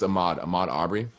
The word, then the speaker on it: Ahmaud Arbery: Yeah, I didn't want to pronounce it wrong. Yeah, I believe it's Ahmaud Arbery.